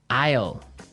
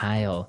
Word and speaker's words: aisle: s l e Isle ale it's a tricky word it sounds like the contraction of I will yeah but it's spelled so strangely right we don't pronounce the S the S is silent that's true ale so